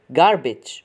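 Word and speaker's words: garbage: هابيتات جارج يعني قمامه جاربي جارج وهنا الجي واقعه بين متحركين اللي هو ي فاذا بتتنطق زي الجي ج ج ج جاربي جاربي جاربي قمامه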